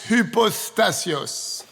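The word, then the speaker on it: ὑπόστασις: Maintenant, ce mot substance est traduit d'un mot grec difficile à prononcer. H-U-P-O-S-T-A-S-I-S. Hypostasios.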